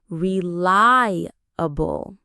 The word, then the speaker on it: reliable: It has four parts, four syllables. Listen closely. Real bull. Again. Realabable. Notice where the stress is. It's on that second part. reliable.